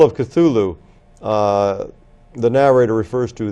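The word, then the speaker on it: Cthulhu: brought up the pr somebody had asked him about the pronunciation of cthulu and he said Well it can't really be pronounced by the human tongue but you have to use your glotus and the closest approximation that human speech can come toward uttering cthulu is CLA it's kind of a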